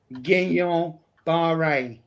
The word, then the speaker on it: Guillain-Barré: Guillain-Barré.